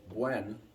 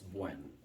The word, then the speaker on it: Buen: So, Buen is like Gwen. Like if you've ever known a girl named Gwen, it's Buen.